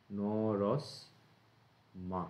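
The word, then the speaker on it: নরস্মা: ন র, এখানে এই ছয়ে ম আছে, ভেঙে যাবে এটা, ন রস মা, এইভাবে উচ্চারণ হবে, ন রস মা। মানে এইভাবে মনে রাখবে, স উচ্চারণ করে তারপর মা উচ্চারণ করতে হবে।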